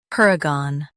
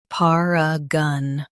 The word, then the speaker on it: paragon: stresses per, UK par. Gone is soft. Paragon. Paragon.